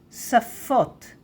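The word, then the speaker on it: שָׂפוֹת: but on the left it says that we pronounce it s like sin s. So safa saf and languages safot safot safot saf safot.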